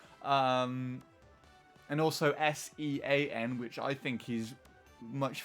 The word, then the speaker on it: Sion: Because my real name is Sean, but it's spelled S-I-O-N, which is, I think,